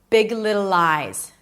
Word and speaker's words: Big Little Lies: It starts with a B, relaxed in, not big, but big. Big. Move on to the word little. You already know how to pronounce it. Big little and then another L. Lies. Close it with a Z.